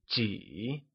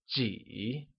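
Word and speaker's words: 几: How many or a few translates to jǐ, which is said using a falling, rising tone.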